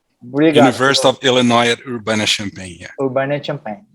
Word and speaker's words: Urbana-Champaign: Pronúncia, Emerson? Universidade de Illinois em Urbana-Champaign. Obrigado. University of Illinois at Urbana-Champaign.